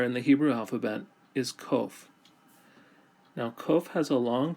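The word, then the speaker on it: קוף: Kof sounds like the letter Q in English.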